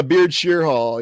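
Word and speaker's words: Beardshear: Yeah, Beardshire Hall. You're absolutely right, Samuel. Beardshire Hall. It's spelled like beard and then shear, isn't it?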